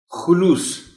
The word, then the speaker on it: خلوص: خاص توجہ چاہیں گے۔ خلوص خے پر پیش ہے۔ عام طور پر خے